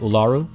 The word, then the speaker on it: Uluru: you will to uh uluru i've been told it's pronounced ularu um without actually you